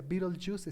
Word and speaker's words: Betelgeuse: Se escribe Betelgeuse, pero se pronuncia Betelgeuse, está en una esquinita de Orión.